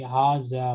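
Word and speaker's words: هذا: So here between ha and zal, there is an hidden alif which is pronounced but not written.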